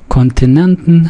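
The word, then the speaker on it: קאָנטינענטן: Kontinenten has 4 syllables, and stress is not indicated, so we are just going to assume that it falls on the second from the last.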